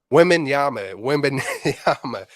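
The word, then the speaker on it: Wembanyama: Wabama or Oh, Webinyama? Wembenyama.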